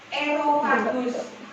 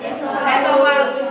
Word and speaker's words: esofagus: Erofagus. Tadi dengar? Nah, harusnya apa yang betul? Esofagus. Tulisannya sudah betul esofagus, tapi bacanya erofagus. Keliru jadi erofagus.